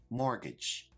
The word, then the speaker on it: mortgage: term is mortgage now this word has a silent T which I've highlighted in the word let's check our pronunciation mortgage a mortgage is like